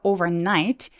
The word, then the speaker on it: overnight: 아니고 강색 노란색 overnight 렇게 두 번 강세가 있을 때도 있습니다 그래서 overnight the beans grow into